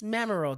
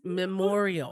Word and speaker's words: Memorial: me she was like no Miss Martin said that it's memoral day I said babe I said it's Memorial we don't know I said that's how you say it I said I'm pretty